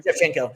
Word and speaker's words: Shevchenko: That's how you pronounce her name? Shevchenko, yep.